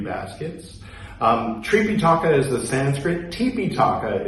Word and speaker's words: Tipiṭaka: Tipiṭaka is the original Pali. That's the pronunciation that we use here.